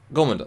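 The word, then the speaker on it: gormagander: But he shouts before you go, "It all starts with the Gomasanda," however you spell it, Gomandanda, whatever. And they're like... Gormander, thank you.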